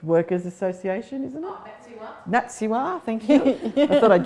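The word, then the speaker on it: NATSIHWA: Oh, NATSIWA, thank you.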